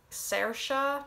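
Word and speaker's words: Saoirse: probably a lot of people know how to pronounce by now because of famous irish actress sercia ronan sercia some people would say it means freedom shinaid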